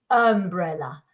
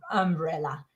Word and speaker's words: umbrella: up but no it's umbrella both uh sounds are in umbrella try it umbrella umbrella wow that's tricky